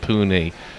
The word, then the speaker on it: Pune: Because it was always Pune, wasn't it, in the days of the Raj, but Pune now. Pune is how it's pronounced.